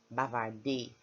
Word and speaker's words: bavarder: Er is pronounced a, like ay. So bavarder, not bavarder. Let me not hear you say it at any point in time. Bavarder, okay?